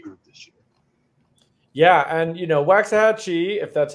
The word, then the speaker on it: Waxahachie: And he just played this week against, I actually don't know how to pronounce this team's name, Waxahachie. Yeah, Waxahachie, is that how it's pronounced?